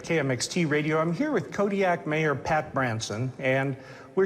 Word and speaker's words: Kodiak: Kodiak in realistic language the queues are more come from like your throat than a normal K does how would we pronounce it then Kodiak Kodiak not that last one